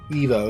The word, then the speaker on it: Ivo: Ivo, yeah, that's how you say it.